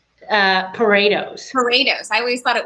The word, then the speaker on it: Poredos: is different your surname is how do you pronounce her name uh paretos paretos i always thought it was pharaohs but